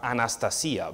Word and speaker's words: Anastasia: Well, her parents actually call her Anastasia because that's how they pronounce it in Russia.